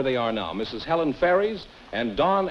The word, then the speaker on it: Ferris: Is that the way you pronounce it? Ferris is the name.